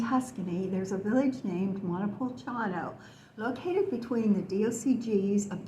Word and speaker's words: Montepulciano: that word in Italian only five syllables don't make the mistake of trying to draw it out too long the letters c i